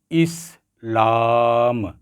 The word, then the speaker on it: اسلام: ہے وہ ہے اسلام۔ اس میں حرکات کی ترتیب کچھ یوں ہوگی، اسلام یعنی پہلا حرف جو ہے وہ مکسور ہوگا، یعنی اس کے نیچے